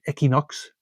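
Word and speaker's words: Equinoxe: And then his follow-up album, I believe, Equinox, or that's probably pronounced Equinox, the traditional French pronunciation of it.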